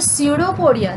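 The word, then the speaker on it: pseudopodia: त्यानंतर सेकंड आपल्याला कॅरेक्टरिस्टिक्स बघायचं आहे तर सेकंड कॅरेक्टरिस्टिक काय दिसेल, दे हॅव द स्युडोपोडिया. तर स्पेलिंग बघा, PS आहे. स्युडोपोडिया म्हणजेच काय आहे, जो आभासी असं आपण म्हणू शकतो.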